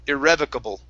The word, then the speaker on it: irrevocable: is irrevocable irrevocable okay instead of bo at the end bull give me a good l irrevocable irratable there you go that's the l sound excellent uh good next